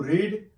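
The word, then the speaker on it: read: पढ़ना, तो टू रीड, ये स्पेलिंग सेम टू सेम है, यहाँ पे आप ध्यान रखिएगा, लेकिन इसको बोला जाता है रेड, और थर्ड फॉर्म भी रेड।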